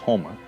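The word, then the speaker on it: homma: The term Okla could mean like a group of people and then the word homa, it's pronounced homa, is the color red.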